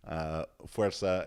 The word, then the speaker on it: Fuerza: That's the proper pronunciation. Fuerza, a female's guide to strength and physique.